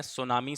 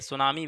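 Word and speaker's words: tsunami: एक जापानी शब्द है सुनामी बेशक सुनामी है लेकिन इसको लिखा कैसे जाता है सुन ठीक है इसको इस तरीके से लिखा जाता है टी साइलेंट रहता है इसमें सुनामी एक जैपनीज वर्ड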